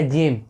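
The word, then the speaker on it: gem: उच्चारण जे होता है जैसे देखिए जी के बाद यहां पे ए ए रहा है तो यहां पे हम उसका उच्चारण करेंगे तो यहां पर हो गया जिम जिम मतलब होता है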